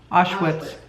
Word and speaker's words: Auschwitz: Auschwitz.